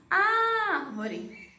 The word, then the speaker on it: árvore: Então, por exemplo, eu tenho a palavra árvore. Árvore. Árvore. Última, penúltima, antepenúltima. Então, tem uma oxítona, paroxítona, proparoxítona. Então, árvore, que é a sílaba tônica, é a antepenúltima, é uma proparoxítona.